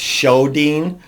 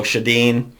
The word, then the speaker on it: Sjodin: Dru Sjodin, and I'm sorry, I think I'm saying her name wrong just a little bit. It's Sjodin, so Sjodin, was raised in Pequot